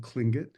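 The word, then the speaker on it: Tlingit: My tribe is called Clingut. Um, it's spelled though T L I N G I T.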